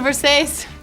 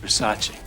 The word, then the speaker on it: Versace: It's a Versace. It's Versace. What? Versace. It's pronounced Versace.